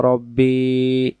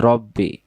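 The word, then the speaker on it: رَبِّي: আল্লাহুম্মা আনতা রব্বি লা ইলাহা ইল্লা আনতা। এই যে রব্বি, রাব্বি পড়বেন না।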